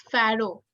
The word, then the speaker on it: pharaoh: How do we pronounce this word? Egyptian for Egyptian king? You can unmute yourself. It's pharaoh.